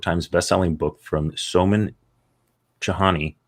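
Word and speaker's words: Chainani: bestselling book from soman chahani i think it's jahani it's spelled chain annie and it follows best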